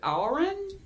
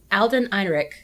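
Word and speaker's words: Alden Ehrenreich: Sid's son, Eddie, is played by, I don't know how to pronounce this man's name, Is it Alrin? I think it's Alden Einrich. Yeah. Alden Eyrick, who most people in our friend group would know from Solo, The titular Solo.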